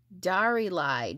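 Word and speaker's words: Diarylide: And again, this is called, it's called Darylide yellow. I thought it was daylily, but it's Darylide yellow. Okay. I was pronouncing that wrong.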